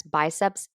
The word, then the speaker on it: biceps: a biceps curl and yes biceps with an S is the correct way to say that if you're holding a